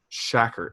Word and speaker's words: Tschakert: Brent Shackert, I think is how you pronounce it. It's Tschakert.